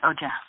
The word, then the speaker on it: OJAH: She is the owner of OJAH. Did I pronounce that correctly? Yes, that's it, OJAH.